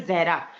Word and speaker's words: जहरा: बताया नहीं एक्चुअली आपने मेरा नाम, जो है जहरा। तो मोस्टली हम्म जो नॉन मुस्लिम्स होते हैं वो प्रोनाउंस नहीं कर पाते, वो जारा बोल देते हैं, ठीक है।